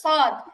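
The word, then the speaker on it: ص: তারপরটা দেখি তারপরে হচ্ছে সদ একই 12 নাম্বার জিহবার আগা নিচের দুই দাতের পেট আগার সাথে লাগিয়ে তো উচ্চারণটা হতো শক্ত হবে বাতাস বের হবে না আর সদ হচ্ছে সদ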